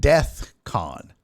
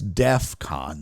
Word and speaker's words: Defcon: not only that but he said death con which is not a thing it's Defcon not Defcon but you know you